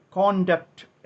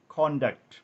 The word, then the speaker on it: conduct: രണ്ടു രീതിയിലുള്ള ഉച്ചാരണങ്ങൾ ഉണ്ട് നൗൺ ആയിട്ട് ഉപയോഗിക്കുമ്പോൾ കോണ്ടാക്ട് എന്ന് ഉച്ചരിക്കും കോണ്ടാക്ട് നൗൺ ആയി ഈ വാക്ക് ഉപയോഗിക്കുമ്പോൾ